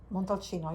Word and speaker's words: Montalcino: There's Mon- Brunello de Montalcino, or Montalcino. Montalcino, you said it right.